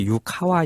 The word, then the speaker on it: 유카와: 물리학자 맞아요 주인공이죠 유가와라 그 유가도 사실은 발음이 또 유카와 있니다 아 유카와 예또 전문